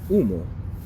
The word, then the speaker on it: humo: Remember the H at the beginning, or anywhere in Spanish without the C, is going to be a silent. So, A, E, I, O, and U. So one silent H word that has the U sound is humo.